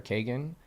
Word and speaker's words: Kagan: The last book I read, it was called $1 Million Weekend by Noah Kagan, I believe, or Kagan. That's how you say his name.